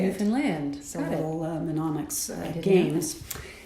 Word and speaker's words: Newfoundland: They made us say, understand, Newfoundland. Oh. That's the way you say Newfoundland.